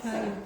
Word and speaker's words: triune: Triune triune.